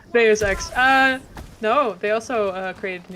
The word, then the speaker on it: Deus Ex: How do you pronounce those X again? Deus Ex. Deus Ex.